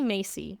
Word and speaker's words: Masey: It's actually Masey. It's pronounced like the department store, but spelled extremely different.